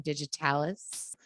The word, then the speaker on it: Digitalis: I said it right that time, Digitalis.